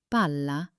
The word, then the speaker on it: palla: Listen to the difference. Bala means a shovel, but bala means a ball. Did you hear that slight hold on the L?